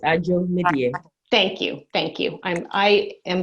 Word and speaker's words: Adzo Medie: do you want to correct the pronunciation of your name? Did I just screw it up horribly? It's peace, Adzo Medie.